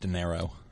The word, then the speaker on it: De Niro: Award was given to Robert De Niro it's pronounced De Niro then you know whatever whatever okay danai Road